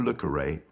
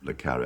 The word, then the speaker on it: le Carré: through the grill room are you look array and i said yes i'm le carre i've never heard my name pronounced like that and he said well